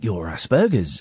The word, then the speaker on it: Asperger's: say, I think you're Asperger's, and I thought it was a hard G, not a soft G.